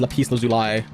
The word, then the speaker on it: lapis lazuli: It's pronounced lapis lazuli. Lapis lazuli.